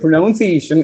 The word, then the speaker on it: pronunciation: We have to pronounce the word pronunciation as pronunciation. That is, we have to give a stress on the S. Pronunciation.